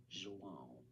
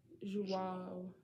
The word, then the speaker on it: João: João. It has a nasal sound at the end of it. João. Okay, it has a nasal. João.